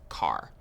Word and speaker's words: char: Chars. So, chars are used for variables that will store single characters. Char, short for character. And sometimes you might hear people pronounce it as car.